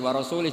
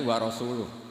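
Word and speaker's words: وَرَسُولُهُ: Allah itu terbebas enggak urusan dengan orang musyrik wa rasulih juga enggak ngurus rasulnya. Kalau sama rasul saja enggak ngurus apalagi sama kita. Terus sama Sayyidina Ali dibenarkan yang benar bacanya itu wa rasuluh, Allah bari' minal musyrikin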